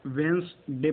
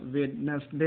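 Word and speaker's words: Wednesday: वेंसडे पढ़ते हैं। कुछ बच्चे क्या पढ़ते हैं? वेडनेसडे पढ़ते हैं। वो एक गलत प्रोनाउंसिएशन है। इसका करेक्ट प्रोनाउंसिएशन क्या है? वेंसडे। इसमें 2 ही सिलेबल होते हैं, ठीक है।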